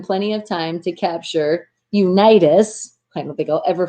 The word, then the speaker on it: Unitas: And I know I'm saying his name wrong too. Unitas.